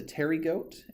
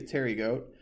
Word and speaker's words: pterygote: So if it is a winged insect, it is a pterygote, and if it is a wingless insect, it is a apterygote. So that P is silent, but that's going to be your difference.